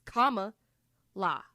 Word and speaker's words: Kamala: Like it's very easy. It's comma la.